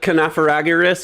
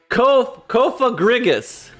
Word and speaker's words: Cofagrigus: For him to switch into Canapharagus or whatever his name is. Canapharagus? Confragarus? Confragarus. Corfigurus? What the hell is his name? How do you even spell it? Cofagrigus.